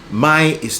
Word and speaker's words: my: My is two vowels together. Ah to e.